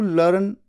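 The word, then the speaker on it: learn: कर लिया optimistic to लर्न कुछ इस तरह से आवाज आई तो इसे कहना है लर्न लर्न र की आवाज तो बहुत हल्की आती है साइलेंट टाइप की लर्न लर्न ठीक है दिस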